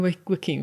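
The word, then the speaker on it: Joaquin: Hanks a Tom Cruz do you mean Wakee Phoenix is that what it is yeah it's not how you spell it to be fair how did you say it w Wakim unless there's another brother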